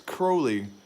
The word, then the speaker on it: Crowley: cool man not cool it's crowley it's literally crow like i can't believe you